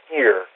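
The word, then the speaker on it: עיר: for The Watcher is a word that would be pronounced more like ear or Eerie in uh in the Hebrew really and the Semitic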